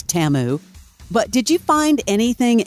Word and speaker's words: Temu: to at least know how to pronounce it it's TAMU but did you find